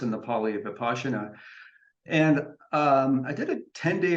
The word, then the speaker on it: Vipassana: So Zen is in the Mahayana school, and there's another meditation practice called Vipassana, spelled Vipassana, but pronounced in the Pali Vipassana.